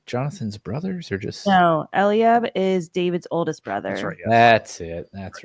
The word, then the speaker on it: Eliab: Him and Eliab, am I saying that right, or is that also very white?